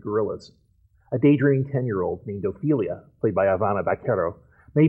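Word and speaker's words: Ofelia: But Ophelia has a godfather, accent on the first syllable.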